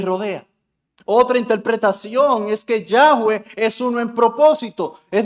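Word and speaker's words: Yahweh: Es decir, no hay otra deidad que sea como Yahwe, que es así como se pronuncia en el hebreo, que sea similar a él.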